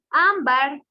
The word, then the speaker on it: ámbar: en la última sílaba ámbar sería grave porque tiene la mayor fuerza de voz y se tilda en la penúltima sílaba ciudad ciudad lleva la